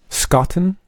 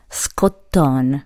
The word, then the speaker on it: Scotton: And how do you say your last name? Scotton? No. It's actually Scotton. Scotton. Yes, but now actually make more sense saying Scotton. Scotton. It sounds more like...